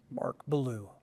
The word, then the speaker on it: Bilyeu: names the way you like them to be pronounced. Cindy Woolf. Mark Bilyeu, except without the croak.